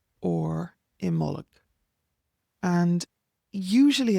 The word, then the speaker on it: Imbolg: So Imbolc is pronounced either, depending on whether there's a C or a G with it, it's pronounced Imol or Imullig.